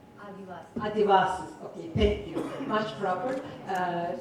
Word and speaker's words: Adivasis: Did I pronounce that right? Adivasis.